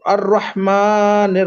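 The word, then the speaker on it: الرحمن: अर्रह मालिकी यौमिद अर्रहमानिर रहीम, रा को मोटा कीजिए। अर अर अर्रहमानिर रहीम।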